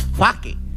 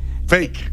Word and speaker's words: fake: Es faque. Fake, ¿cómo hay?